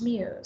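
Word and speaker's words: Muise: It's just actually spelled M-U-I-S-E, but it's pronounced Muse.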